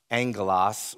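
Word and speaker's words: ἄγγελος: and in uh greek it's it's pronounced angolas where we get the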